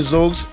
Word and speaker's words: Xogz: Um my people out there, uh my name is Z. Um the pronunciation might throw you off, but it is spelled X O G Z. So that is, you know, Delta, Julius, Xylophone, Oscar, uh Golf, and Zulu.